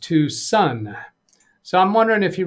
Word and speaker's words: Tucson: interesting Tom K says hi Doug yes it's Tucson Arizona pronounced Tucson so I'm wondering if you really means two